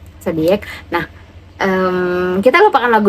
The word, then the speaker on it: Xodiac: satu boyfriend yaitu adalah Zodiac bacanya zodic kan zodic Nah em kita lupakan